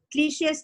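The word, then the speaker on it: cliché: may i give you the pronunciation as i said is cliche and you can use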